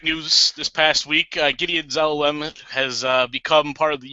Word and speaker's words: Zelalem: Tyler, you have any thoughts on Gideon Zelalem? Well, first of all, can we find out exactly how to pronounce his name?